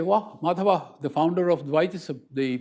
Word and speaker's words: Madhava: Madhava, or to pronounce his name as it is done in Malayalam, Madhavan, is not, 30 years